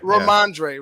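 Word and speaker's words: Rhamondre: Is that how you pronounce the first name for the Patriots? Stevenson, the running back. Ramondre.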